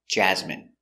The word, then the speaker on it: jasmine: it's not my favorite Jasmine pronunciation Jasmine j j a j z jazz jazz m jasm jasm j jasine n Jasmine Jasmine stress the first syllable Jasmine Jasmine is a